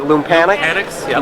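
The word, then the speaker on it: Loompanics: But Lumpanics, is that how you pronounce it? Lumpanics? Lumpanics, yeah. Lumpanics, yes.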